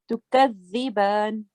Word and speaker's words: تكذبان: Let's take the tongue, take your tongue out and touch your upper teeth. And now please say the letter. تكذبان. Yeah, so only for the letter dal, not for the whole word. Tukaziban.